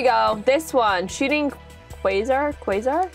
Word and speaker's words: Quasar: this one shooting Quasar Quasar is how you say it dragon I'm excited I